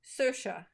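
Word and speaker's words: Saoirse: and what is I of course I recognized it as Irish right away and it's pronounced sersha which is is really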